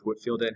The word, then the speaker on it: Whitefield: ways of christianity the second guy is george whitfield and i know it's spelled whitefield but he pronounced it at woodfield and we call him touchdown jesus because every single picture you see george whitfield he has his hands up like this he